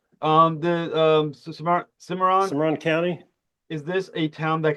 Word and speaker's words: Cimarron County: Now, when you think of of uh, uh, my pronunciation, Cimarron County, am I saying it correctly? Cimarron County. Cimarron County. That's That's Cimarron County.